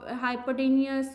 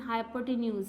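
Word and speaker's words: hypotenuse: बहुत सारे इसकी प्रोनाउंसिएशन हाइपोटेन्यूज, हाइपोटेनियस कुछ लोग बोल देते हैं, लेकिन इसकी करेक्ट जो है प्रोनाउंसिएशन हाइपोटेन्यूज है।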